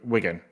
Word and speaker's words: Wigan: game against wiin Wigan oh my word not wian W Wigan and I don't think he I don't think